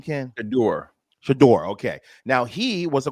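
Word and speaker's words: Shedeur: How do you pronounce his name, Ken? Shador.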